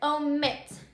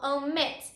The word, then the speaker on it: omit: see Oh mint okay so let's say that word omit do you hear it the last syllable omit that is the strongest syllable so it says so